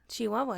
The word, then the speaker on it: Chihuahua: Is that like the right way to say that? Chihuahua? Chihuahua, yeah, okay. Like the dog.